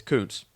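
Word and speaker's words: Kuntz: watching him develop at Old Dominion and that's Zach Koontz it's not the way you think it it's pronounced it's it's Koontz 5.9 grade he is another Behemoth man six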